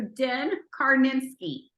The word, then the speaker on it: Din Karnitskiy: I'm so excited and honored and privileged to introduce you to Den Karnitskiy.